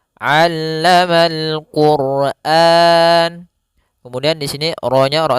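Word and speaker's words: علم القرآن: Jangan sampai dibaca alamal quran, jangan pakai alif, jangan pakai hamzah. Tapi di sini huruf ain. A aa allama allamal quran.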